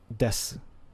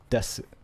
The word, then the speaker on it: desu: And you'll hear that the u is very soft. So if you want to pronounce it, it's like desu. But if you don't pronounce it, you probably won't tell a difference. So like here I am pronouncing it desu, and here I am not pronouncing it des.